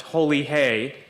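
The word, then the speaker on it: Holi Hai: People chant, Holi High, which is pronounced Holi Hey, and that it means it's holy.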